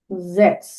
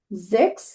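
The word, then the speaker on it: sechs: জিরোকে নুল, ওয়ান আইন্স, টু সোয়াই, three দ্রাই, four ফিয়া, five ফুনফ, সিক্স জেক্স, seven জিভেন, eight আট, nine নয়ন, টেন সেন, 11 এলফ, 12 সোলফ। তাহলে আমাদের উচ্চারণগুলো অনেক ভিন্ন হচ্ছে।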